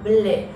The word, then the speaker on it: bleu: Significa azul y se pronuncia bleu, como nuestra fragancia Bleu Night y Bleu Intense, que ahora tienen una nueva presentación.